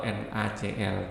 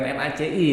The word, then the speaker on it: NaCl: satunya garam dapur atau NaCl. Bukan NaCi ya, NaCl. Dulu waktu SMP Pak Ali sempat keliru bacanya NaCi.